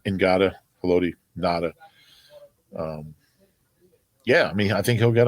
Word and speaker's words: Ngata: It's pronounced differently than Haloti, right? Yeah, I believe it's Ngata. Ngata, Haloti, Nada.